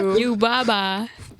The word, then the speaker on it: Yubaba: Yababa. Yababa. Yababa, who is a witch. Yababa has a... Am I saying it right? Yubaba.